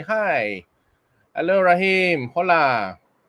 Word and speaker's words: hola: Hola or hola, hola. Silent H in Spanish.